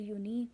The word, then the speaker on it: unique: But when we pronounce the word unique, the initial sound does not come as a vowel sound, it comes as a consonant sound.